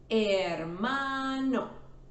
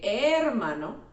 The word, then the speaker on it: hermano: We don't say hermano, we say hermano.